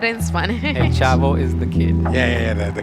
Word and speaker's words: El Chavo: The last one is el chavo. How do you say el chavo? El Chavo. Not El Chapo.